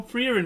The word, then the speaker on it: Frieren: Oh, I'm pronouncing it correct because she is named after the German word for being called.